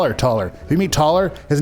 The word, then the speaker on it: Thaler: Hey, there's Thaler. It's taller. Oh yeah, taller. We didn't spelled say your name wrong.